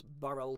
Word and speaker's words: birl: Gavin Maxwell says it's burl, 2 syllables.